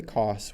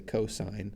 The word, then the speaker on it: cosine: when we see that we don't say costs we say cosine of a and then